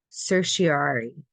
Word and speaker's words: certiorari: Um, what factors do the Supreme Court consider when deciding to grant a certiorari? I had to look up how to pronounce this because it was killing me.